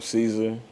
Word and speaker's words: Csre: get into music okay uh on Caesar that's spelled c-s-r-e reasons being it's just the initials to my name it's more simple than what people give it but you can't pronounce it if I spell it out to you uh from the